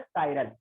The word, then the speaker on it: chiral: कायरल carbon, इसे कुछ बच्चे चिराल भी पढ़ सकते हैं, CHIRAL चिराल, बट इट्स नॉट चिराल, इट is pronounce as कायरल।